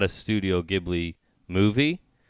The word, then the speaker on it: Ghibli: would be jibley but it's actually in American pronounced Ghibli so when everyone says Studio Ghibli which is how it's pronounced it's actually not how it should be pronounced because it should be Ghibli lovely Ghibli yeah so yeah I yeah yeah